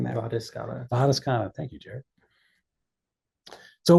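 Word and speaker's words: vadescana: Am I pronouncing that? Vadiscana.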